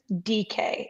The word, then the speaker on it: Dike: I am going to go with Chimere DK. If you're looking for a long time, this confused me because it's not spelled that way. It's spelled DIKE, and people were talking about DK, and I was like, DK Metcalf?